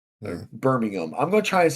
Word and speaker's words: Birmingham: and you've lived kind of near Birmingham. Mm. Birmingham.